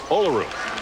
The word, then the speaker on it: Olaru: Now, Maria Olaru, as Belu says, our Romanian interpreter says Olaru.